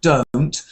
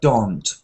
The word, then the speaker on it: don't: they don't please talita when you say the word don't try not to say don't try to say don't don't they don't it's the difference between phone like oh no mobile phone don't o o and clock dog o dog don't so don't they don't